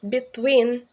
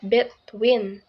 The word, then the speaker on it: between: number six is between here they stress second syllable when making it between not between accept in this word